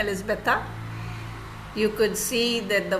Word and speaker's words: Elizabeta: um Elizabeth how do you say your name elizabetha you could see that the voice modulations there